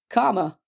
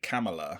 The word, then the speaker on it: Kamala: like when you have a grammatical comma but in in the English accent that's comma but in the American accent it's probably Karma so it's probably Karma but I've been going kala all week like a proper English person cuz I have always you know cuz like seeing it written down I just say camela yeah me too that's what